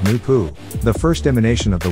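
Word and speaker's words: Noopoh: spelled n-o-o-p-o-h and pronounce no poo the H is silent and capitalized noon is the Ethereal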